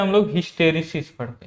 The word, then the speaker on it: hysteresis: अब आगे बढ़ते हैं हम लोग, हिस्टेरिसिस पढ़ते हैं। क्या हमारा टॉपिक रहेगा, हिस्टेरिसिस, स्पेलिंग क्या है, HYSTERESIS।